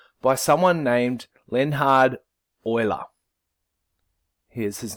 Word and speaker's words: Euler: it oil up and think of the stuff that you put in your car so the word oily